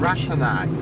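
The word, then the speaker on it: Ratanak: How do you pronounce that, Simon? Ratstone? Which one of our local... Ratanac.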